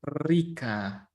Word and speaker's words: Rica: Honduras Nicaragua this letter the letter R when it's at the beginning of the words is the most difficult letter to pronounce but all people I mean all my students in Spanish have troubles with this letter but is like Rica this letter is like to move your tongue really fast they're like and it's